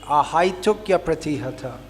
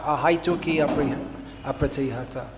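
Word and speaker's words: अहैतुक्यप्रतिहता: It should be ahaitukya pratihata, not ahaituki apratihata. It in Sanskrit, the vowel I coming before the vowel changes to ya.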